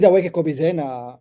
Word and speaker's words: Aweke Kobi Zena: So please welcome my guest, Aweke Kobi Zena. Did I pronounce it correctly?